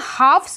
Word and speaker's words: halves: जब हम बहुत सारे हाफ पकड़ रहे हैं, प्लूरल बोल रहे हैं, उस टाइम पे हम हाफ्स बोलते हैं। HALVES और L होता है साइलेंट।